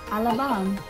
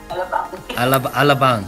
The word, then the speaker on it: Alabang: Alabang. Alabang.